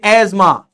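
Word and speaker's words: asthma: बावड़े सीधे लिखो ना ए एस एम ए एजमा ऐसे लिख दो नहीं ये बीच में टी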